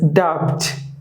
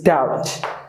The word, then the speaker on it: doubt: people pronounce this as dubbed they pronounce the b but you don't have to pronounce the b the b is silent so it's doubt so i think you